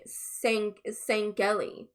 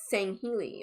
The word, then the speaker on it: Sangheili: the guy said sangheili he kept saying saingeli and it's saying healy or at least that's how i've heard it pronounced in many videos that i've watched and um actually